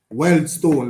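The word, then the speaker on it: Wealdstone: Weldstone, that's how they're pronounced.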